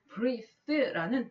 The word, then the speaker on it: breathe: 발음 기호를 보면 숨이라고 명사를 말할 때는 breath라고 말하고 breathe라는 동사, 숨쉬다라고 할 때는 이도 붙이고 발음도 i로 바뀌어서 breathe 이렇게 바뀌어요. 그러면 숨이라고 말할 때는 breath, 숨을 쉬다라고 할 때는 breathe 이렇게 바뀌는 거죠.